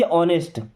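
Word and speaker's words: honest: एच लिखा है। एच हमारा कंसोनेंट होता है। लेकिन इसको हम बोलते क्या है? ऑनेस्ट। क्या बोलते हैं? ऑनेस्ट। तो इसके पहले आएगा एन। एन ऑनेस्ट। क्या आएगा?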